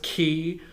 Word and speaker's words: chi: all right and so each individual person has their own flow of chi or sometimes it's pronounced key um and so you